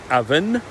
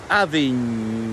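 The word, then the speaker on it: abhainn: Places like the River Avon in England come from the same root, but the pronunciation in Gaelic is not Avon, but Avin.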